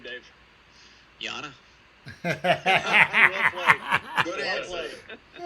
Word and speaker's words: Yana: And how do you pronounce the other name, Dave? Yana.